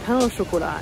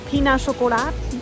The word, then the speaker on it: pain au chocolat: The guy kept saying, like, I ordered a pain au chocolat, and I'm French, so I know how to pronounce it. And the guy was like, peanut chocolat, peanut chocolat.